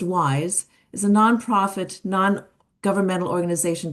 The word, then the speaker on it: WIIS: Women in International Security, pronounced WISE, is a non-profit, non-governmental organization dedicated to advancing leadership opportunities in the international peace and security field. WISE supports its mission by bridging research to action,